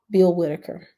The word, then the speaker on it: Bill Whitaker: But just recently, they had an interview with Kamala and Bill Whitaker. That's how you pronounce his name.